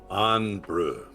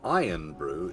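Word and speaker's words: Irn-Bru: Iron brew. Correct. Making sure not to pronounce iron brew, it is iron brew.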